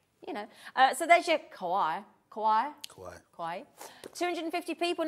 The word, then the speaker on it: kawaii: Anyway, so there's your, do you pronounce it kawaii?